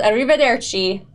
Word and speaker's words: Arrivederci: Okay, this episode is called Arrivederci with a horrible Italian accent.